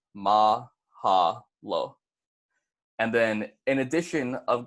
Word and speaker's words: mahalo: is dead and then Mahalo is going to be pronounced mah haah lo so if you guys want to repeat it back with me that's gonna be mah haah lo and then in addition